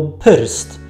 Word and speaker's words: prst: Czyli przed R trzeba było wymówić coś takiego jak polskie y. I dzieje się tak zawsze, kiedy to R jest wciśnięte między dwie inne spółgłoski. Wtedy właśnie przed ry wymawiamy y. Tak jak właśnie prst.